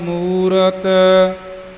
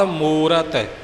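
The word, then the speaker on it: ਮੂਰਤਿ: करना निर भव निरवैर अकाल मूरत ममन दुकड़ है थे भी काली विच मुरत बोल जांदे ने अकाल मूर्त जो कि बिल्कुल ही गलत है मूरत अजूनी अजूनी जुन्नी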